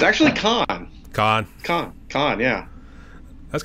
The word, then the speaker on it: Cohn: the spelling's different so people often say cone but I you know be honest I I don't always correct people because it doesn't really matter that much to me but I do pronounce it Khan so it's all good